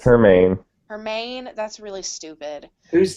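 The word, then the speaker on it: Hermine: Yeah, so coming from someone who was in Orlando during, is it Hermione? Is that actually how you say it? No, it's Hermaine.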